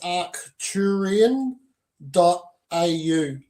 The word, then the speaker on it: Arcturian: You can easily just go to my website, which is arcturian.au. And so you can just look up Arcturian, spelled as you pronounce it, 3 syllables, ARCTURIAN, .au for Australia.